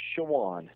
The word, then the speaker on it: Chowan: Yeah, it's pronounced Chowan.